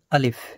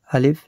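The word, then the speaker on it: ألف: এই যে প্রথমে একটি লাঠির মতো দেওয়া রয়েছে, এই চিহ্নটাকে বা এই অক্ষরটাকে বলা হয় আলিফ। আলিফ, এটাকে তাড়াতাড়ি নরম আওয়াজে পড়তে হয়, এরকমভাবে আলিফ।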